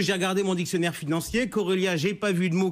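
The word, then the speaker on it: Chorélia: Bref, Corelia. Pourquoi pas, mais cela dit, pourquoi ne dirait-on pas Chorelia? Alors certes, d'un côté, le C-H-O peut se prononcer co, comme dans choriste, mais il peut aussi se prononcer che, comme dans chômage, ou par exemple dans professeur Choron, on disait le professeur Choron et pas le professeur Coron.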